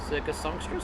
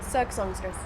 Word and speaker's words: Cirque Songstress: Circus Songstress, thank you very much. Cirque Songstress.